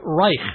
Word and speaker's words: Reich: that means but but Reich well you can pronounce it anyway but I just say Reich okay like bike and like is that